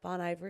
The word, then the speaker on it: Bon Iver: She did one with Bon Iver too. Is that how you say it? Yeah, Bon Iver.